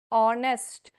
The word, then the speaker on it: honest: words starting in h certain words starting in h where H is silent in pronunciation R honest honor honary sound so